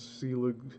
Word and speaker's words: Selig: William Nicholas Selig, pronounced Selig, was one of the most successful and colorful motion picture pioneers of the 1890s and early 1900s.